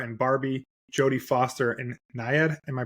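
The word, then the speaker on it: Nyad: Purple America Ferrera and Barbie jod Foster and NAD am I pronouncing that correctly yep yep and then deine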